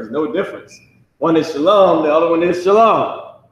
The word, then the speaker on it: Shalom: no difference one is Shalom the other one is Shalon is it but people don't know how to say it so they say shallow um and just like